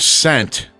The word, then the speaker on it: scent: In the word scent, which letter is silent? C. S or C?